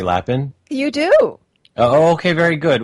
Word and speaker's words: Lapin: right when I say laughing you do okay very good well actually bark Liz you're corrected me on that because I always wanted to go french with it and say but it means rabbit